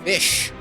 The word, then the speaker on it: Ghoti: I am Fish. Ghoti. It's pronounced fish.